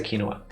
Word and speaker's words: quinoa: so she said kinoa I think it's pronounced quinoa yeah in America it's it's not over here over here we say quinoa uh which helps because